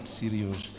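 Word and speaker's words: Серёжа: If you were in Russia, this is how I would pronounce his first name. Not Sergei, but Seryoja.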